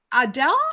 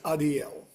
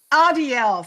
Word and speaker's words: Adiel: So today I'm with Adele, not Adele. Pronounce it again, please. My name is Adiel. Adiel, thank you.